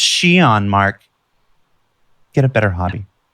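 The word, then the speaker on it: Xi'an: To stop the YouTube video and go immediately to comments and say it's pronounced Xion, Mark.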